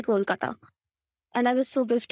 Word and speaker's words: Kolkata: Last year, KKR couldn't make Owen Morgan say Kolkata, and I was so pissed off because we don't even win, and the captain couldn't say the name right.